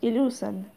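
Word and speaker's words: illusion: এস আই ও এন ইলিউশন English উচ্চারণটা হলো ইলুশন এর বাংলা মানে হলো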